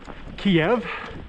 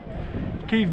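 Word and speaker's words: Kyiv: the capital Ukraine is Kiev don't do that that's the Russian pronunciation you might as well just uh you know stipulate that cave belongs to Russia if you're going to call it Kiev so yeah avoid that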